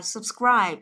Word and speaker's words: subscribe: Các bạn nhớ không đọc là sub nhé, sub. Cái chữ U ở đây mình đọc là âm O, nhớ chưa? Subscribe. Ấy, chọn âm của nó cũng là âm thứ hai.